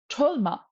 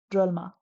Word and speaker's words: Drolma: It's not Trolma, it's Drolma.